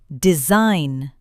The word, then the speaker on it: design: When you see G, N together, the G is usually silent. Sign. Design.